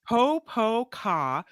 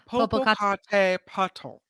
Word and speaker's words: Popocatépetl: They have it pronouncing here. Pocket It's Popocatépetl. Popocatépetl.